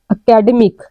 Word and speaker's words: academic: It's academic. The stress is on the middle term.